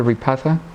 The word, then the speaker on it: Repatha: to remember the generic yes can't remember that repatha how do you pronounce it repatha yeah ratha okay so I've never used it